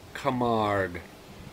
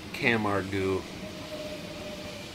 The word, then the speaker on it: Camargue: Here it is, ladies and gentlemen, the Majorette Camargue, or as Americans would pronounce it, Camargue.